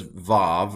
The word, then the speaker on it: vav: to call that avav now the older pronunciation maybe even in Bible times it might have been a while um or a wha sound modern Hebrew does VAV or V and so I'm going to go with the you can